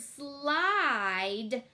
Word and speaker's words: slide: That super silent E is going to poke that I to make it say its name.